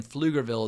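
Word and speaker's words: Pflugerville: located near Austin and I'm assuming that the pee in fluger Ville is also silent which led to the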